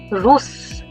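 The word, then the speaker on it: russe: Coming back to the third rule, if any nasal ends with a wobble, someone who is from Russia is called roose. Very much like Hindi. There is no change. It is identical for masculine and feminine.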